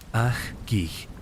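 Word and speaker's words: ajq'ij: En las tierras altas de Guatemala, los ajig, pronunciado Kig, los guardianes de los días todavía practican formas del antiguo calendario.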